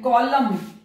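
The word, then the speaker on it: column: बहुत सारे वर्ड्स हैं, कॉलम देखिए एम और एन आया तो एम यहां पर साइलेंट है अंत में आए,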